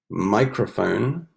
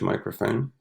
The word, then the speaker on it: microphone: Orchestra, choir, chorus, microphone, right? The PH, microphone, rhythm, and symphony. Remember, the PH makes a sound like an F.